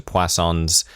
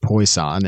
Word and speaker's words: Poisson: Don't pronounce it Poisson. What do you... Come Poison? on. I don't know. I have no idea. Poisson? I've not taken a statistics class. How do you pronounce it? Usually just Poisson in Poisson.